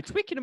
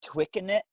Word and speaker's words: Twickenham: Twickenham was pretty impressive. How do you say it? Twicken it? Twickenham. Twickenham. Okay.